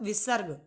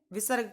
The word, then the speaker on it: विसर्ग: तो इन दोनों में विसर्ग का प्रयोग किया जाता है। तो ये विसर्ग का उच्चारण ह की तरह होता है।